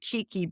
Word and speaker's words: keiki: We pronounce it Keiki, but someone I know that lived in Hawaii said that's not correct. I think you pronounce it Keiki, but it's spelled Keiki.